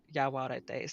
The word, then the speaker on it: Yaguareté: Yaguareté. See, I know how that is pronounced, that GU.